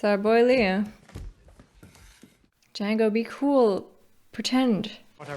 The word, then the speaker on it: Django: Django. DJANGO. The D is silent.